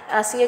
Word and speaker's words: Ashiya: आसिया के नए में एच जो है वो साइलेंट है, और आसिया को लिखने की कुछ स्पेलिंग जो है हम आके चल के देखते हैं।